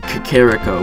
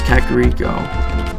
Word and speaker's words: Kakariko: human people instead of Kakariko seca kiriko I mean that's just a small thing I mean I heard like one person saying Shakira co before but I know it's Kakariko oh no I'm not